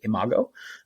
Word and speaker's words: Imago: find us on social media we are at Imago nutrition again I am a g o and yes that's how you pronounce it Imago um at Imago nutrition and so as always